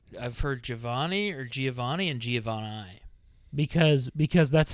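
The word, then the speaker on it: Giovanni: what it actually is I always said Giovani it's actually Giovani really and yours was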